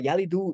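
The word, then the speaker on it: يلد: So yalidu is the president's word if you had a u sound at the end of it.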